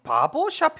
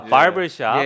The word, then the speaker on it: 바버샵: 물빛님께서는 박영식 앵커님 바보샵 헤어스타일이라고. 어우, 뭐 헤어스타일에 대해서 바보가 아니고 바보죠. 발음 잘하셔야 됩니다. 바보샵. 아, 바버샵.